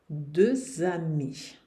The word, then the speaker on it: deux amis: francês, eu vou dizer deux amis. Duas amigas. Deux amis. O X aqui vai ter o som Z. O E o S no final não se pronunciam.